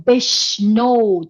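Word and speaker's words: بشنو: Beshno, the last word is O, kind of a compound vowel, O. But I'm sorry, this letter is not easy. And I made a mistake here because this letter has at least two different pronunciation in Persian. I put the second pronunciation as a long vowel of U, but here this is not long vowel of U. This is just O.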